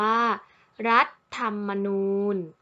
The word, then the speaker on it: รัฐธรรมนูญ: นะ คะ นัก เรียน คำ นี้ อ่าน ได้ สอง แบบ แบบ แรก อ่าน ว่า รัฐ ธรรมนูญ รัฐ ธรรมนูญ แบบ ที่ 2 อ่าน